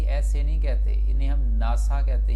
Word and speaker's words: NASA: नहीं, आपने याद ये रखना है कि इन्हें हम इकट्ठा बोलते हैं, नासा। ना शुरू में आवाज़ आ रही है, शुरू में आवाज़ ना आ रही है, और ना के स्पेलिंग किससे बनेंगे, NA से, और N क्या है, कॉन्सोनेंट है, तो आप नासा बोलेंगे।